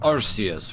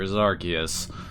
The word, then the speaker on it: Arceus: I am that which humans call Arceus, or Arceus. I've heard both pronunciations.